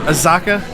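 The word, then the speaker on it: Azacca: Yeah, so it's an IPA brewed with citrusy hops, Citra, Nugget, and is it Azaka? Is that how you say it? Yeah.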